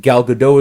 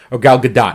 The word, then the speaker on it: Gal Gadot: the movie i have absolutely no problem with gal gadot as wonder woman they made her look good